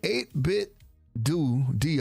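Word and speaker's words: 8BitDo: The 8bit DO or 8bit do, whichever way you want to pronounce it, has a NES40 collection peripherals, and they're up for pre-order right now.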